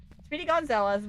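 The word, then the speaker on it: Speedy Gonzales: I said his name wrong apparently last time and I got caught for it. So, Speedy Gonzalez, the little mouse from Looney Tunes.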